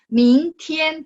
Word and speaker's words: 明天: 明天 tulisannya T-I-A-N, tapi bacanya T-H ya kan.